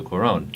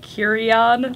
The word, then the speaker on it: Cuarón: It stars Sandra Bullock and George Clooney and was directed by Alfonso Cuarón. Is that how you say that? Yeah. I've been saying it wrong this entire time. How have you been saying it? Curion.